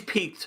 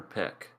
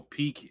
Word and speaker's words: Pieck: I've been calling her Peck. I called her PIECK. Peak. Okay, so Peak, Peck, and PIECK. But no, Peak is, I think, the right way to say it.